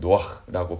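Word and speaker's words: נֹחַ: 노아 역시 이름은 노아흐라고 발음을 하는데요.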